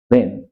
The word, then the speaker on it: reign: आपको स्पेलिंग्स पे गौर करना है, RAIN REIN, ए और ई का फर्क है, और REIGN, इसमें जी साइलेंट रहता है, रेन।